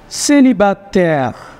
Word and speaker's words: célibataire: Can you try to pronounce this, Henny? Je suis... Okay. No. Je suis... Célibataire.